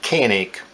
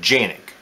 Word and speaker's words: Canik: arms and canik themselves now we pronounce it canic in turkey they pronounce it janic well they don't pronounce